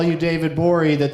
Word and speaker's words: Gborie: me call you David Bowie that the G is silent later like what G